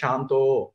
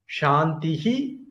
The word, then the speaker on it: शान्तिः: நிஷ்டா சாந்திஹி பாராயணம், விசர்க்கத்துக்கு பிறகு பா வந்திருக்கு, அப்போ உதடு ஒட்டாத பாவாட்டு அது சொல்லணும், அல்லது விசர்க்கத்தை உச்சரிச்சு சொல்லணும். சாந்திஹி பாராயணம் ஒரு விதம், சாந்தி பாராயணம் இன்னொரு விதம். நாம இந்த ரெண்டாவது விதத்தை பயன்படுத்த போறோம்.